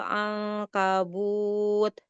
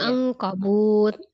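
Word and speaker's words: عنكبوت: auhanal buyuti labaitul ankabut Jangan angkabut jangan ditinggiin kafnya. Ankabut wa inna wa inna auhanal buyuti laitul anqabut. Kenapa enggak boleh bacanya kayak gitu? Kalau Umi bacanya tadi kayak macam angkabut itu kalau dalam bahasa Indonesia itu bahasa pertanyaan. Sementara itu bukan pertanyaan tapi pernyataan gitu ya.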